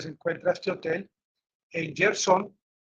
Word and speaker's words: Kherson: Aquí les voy a mostrar el lugar exactamente donde se encuentra este hotel, en Gerson, no en Kherson, ya me corrigieron, se dice Gerson, no se dice Kharkiv, sino Yar, Yarkiv.